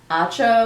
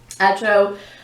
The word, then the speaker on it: Acho: This was by Emmanuel Acho. I think Acho is how you say his name.